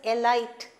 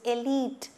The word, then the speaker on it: elite: for the elite crowd many people pronounce this word as a light it is not a light it is elite elite okay elite complex